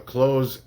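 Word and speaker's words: cloze: a close example, a close exercise, excuse me. And if you don't know what that is, it's spelled with a Z, not an S. C L O Z E.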